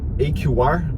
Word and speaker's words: AQR: empresa chamada AQR Investimentos, AQR, falando aí com a pronúncia do inglês, e é Analytic Quantitative Research, o que quer dizer AQR, né?